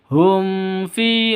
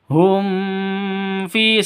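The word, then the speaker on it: هُمْ فِي: Wa nazaruhum fi, hum fi langsung ya, jangan didengungkan. Hum fi salah, langsung hum fi, begitu.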